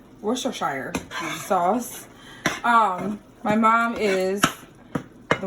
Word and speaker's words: Worcestershire: Worcestershire. Worcestershire sauce.